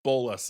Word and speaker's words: Bolas: So Bolas is the emphasis, and when I shorten it, I'll be referring to him as Bolas, not appreciate Nicole.